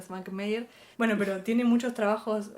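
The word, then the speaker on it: Švankmajer: Svankmajer se lee, pero se pronuncia Svankmajer.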